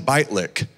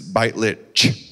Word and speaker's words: Beitlich: to be clear here i called him bite lick for like six months and finally he goes it's bite lit you got that like oh my gosh